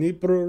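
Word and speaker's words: Dnipro: The Ukrainian way to say it is nepro. So I say nepro even though it is officially Nepro Petrosk.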